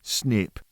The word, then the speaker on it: SNP: Let's start with a key concept in pharmacogenomics, the single nucleotide polymorphism, or SNP, pronounced snip.